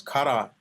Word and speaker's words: kara: but yeah, the pronunciation is kara. Kara means empty, emptiness, and actually the character.